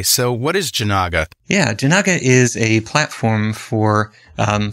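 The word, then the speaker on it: Jinaga: uh the the other open source project is pronounced janaka uh it's oh what did I say Jenga yeah yeah yeah yeah it's not the the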